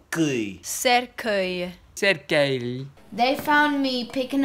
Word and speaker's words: cercueil: Cercueil. Cercueil.